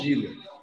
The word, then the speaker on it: Cedenilla: É, a Cedenilha, porque é espanhol. Sedenilha.